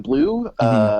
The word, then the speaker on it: Bleau: with engineer extraordinaire Jordan Blue. Really helped us out there. Blue is spelled Bleau, by the way.